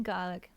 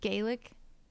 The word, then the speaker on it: Gaelic: Gaelic like garlic, not like Gaelic.